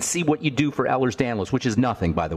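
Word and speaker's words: Ehlers-Danlos: D first of all there's no disease called ERS danlo it's Ellers Danos that's spelled e h l e RS d n l oos for the listeners Ellers Danos is a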